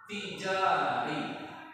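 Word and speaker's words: تجاري: Ta, jim, alif, ro, ya. Bacanya apa? Tijari. Tijari. Huruf ta, bukan dari lagi huruf alif. Huruf apa? Huruf ta, setelah ta sampai apa? Jim, Jim, alif, sudah jim, ro. sampai alif. Yang panjang bacaannya tiga, sudah ja, ro. Dikasih yang sukun supaya panjang lagi.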